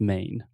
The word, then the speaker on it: Maine: have a letter or when we have a word that ends in e in english we don't pronounce the e the e is silent so just main main exactly i don't